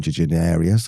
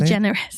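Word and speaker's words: DeGeneres: Basically, she's written for Ellen Deanerius. I can't say her name for some reason. Ellen Degenerius, how do you say? Degenerous. Degenerous.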